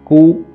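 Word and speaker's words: 骨: một chút, đó là chúng ta đọc thanh một, đọc là cu, không đọc là củ, thanh ba nữa.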